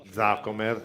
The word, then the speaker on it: Zaccomer: Zaccomer, ecco, l'accento sulla seconda vocale.